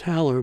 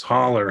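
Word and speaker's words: Hole: whispering to myself uh I've always said his name is Hower but it's holler right um cuz I know someone with the same spelling and they pronounce it Hower it's been funny can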